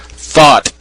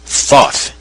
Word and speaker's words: Thoth: conjured up my thought thought is the Egyptian god Thoth the creator of almost